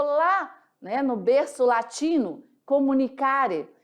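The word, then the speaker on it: communicare: No latim, essa palavra, ela é nada mais, nada menos que assim pronunciada. Olha, comunicare.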